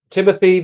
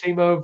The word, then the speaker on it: Timo: Timothy Werner, yeah? Timothy. Just pronouncing everybody's first name wrong. Timothy Werner. Timo Werner for you.